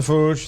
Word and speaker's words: Fooge: Pronounced The Fooge.